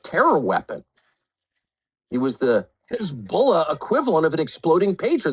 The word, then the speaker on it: Hezbollah: Hezbollah, or as it is often known on American television, Hezbollah, kind of the Kiev of pronunciations, people who know what they're talking about call it Hezbollah.